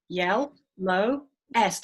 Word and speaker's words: yellowest: Well, that's 3 syllables, so it's yell, low, yell, low, est. And make sure when you say est, you really overpronounce that E, because there's another suffix that sounds like that, ist.